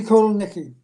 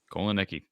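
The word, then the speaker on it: Kotelnicki: Andy Kolonicki. Kolonicki.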